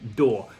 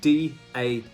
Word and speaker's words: DAW: of software and it's called a door and I don't mean door I mean d a w or as the Americans say it da um this stands for